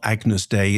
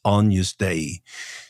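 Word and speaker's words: Agnus Dei: of Scala radio that it's not Agnes day it's Ana day.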